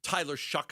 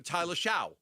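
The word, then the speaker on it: Shough: Like I've heard Tyler shuck a million times. But if I'm just if we're not talking and all of a sudden I'm gonna I'm gonna Tyler Sha. I just pronounce the way I I see it.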